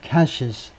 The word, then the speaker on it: cache: warning 경고하는 뭐 하라고 경고하느냐 하면 to move away from the group's weapons caches. 이 헤즈볼라의 무기 caches는 은닉처입니다. 발음은 cache. 이 현찰하고 발음이 똑같습니다.